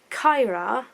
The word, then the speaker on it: Kaira: It's kind of like, so Kyra, which is spelled Kaira, Emilee's older sister, something